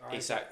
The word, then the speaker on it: Isak: Painfully, when we're saying about Newcastle and I always say his name wrong, is it Isak? Isak, yeah.